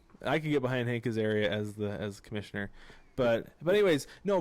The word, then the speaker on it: Azaria: I think that the two candidates would be Jared Kizo and Frank Azera. How do you say his name? Azaria? Frank Azaria. Hank Azaria.